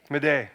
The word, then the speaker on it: Madej: Majev? Majev? Majev? Madej.